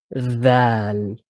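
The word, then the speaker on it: ذال: So, for example, this letter is called dhaal. The sound it makes is the, thu. Okay, so this L sound is not, when you're reading Arabic and you're reading the Quran, this L sound is not part of the. This is just the name of the letter.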